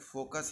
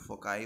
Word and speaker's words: foci: लोग फोकी बोलते हैं, कुछ लोग फोकाई बोलते हैं। फोकी बोलते हैं। तो फोकी हो गया।